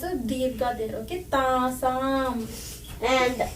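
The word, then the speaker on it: तासाम्: pronounce a dirgha there. Okay, Tasam.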